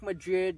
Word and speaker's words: Madrid: So, I was talking about uh Madrid, spelled like Madrid, but spoken Madrid.